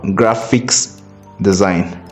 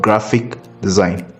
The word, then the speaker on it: graphic design: most of the times it is not graphics design but graphic design Gra p h i c without an S kindly take note of